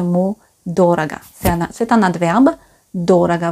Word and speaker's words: дорого: d'ordre c'est un adverbe dorada vous avez remarqué l'accent tonique et les sureaux sur le premier au dorat gars c'est